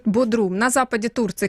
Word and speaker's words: Бодрум: Мы сейчас уточним даже, как корректно ударение, потому что я знаю, что туристы обычно говорят Бодрум, но орфографический словарь пишет Бодрум.